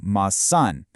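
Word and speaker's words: maçã: But add a tiny tilde over the A, ma-san, and the pronunciation completely flips to ma-san.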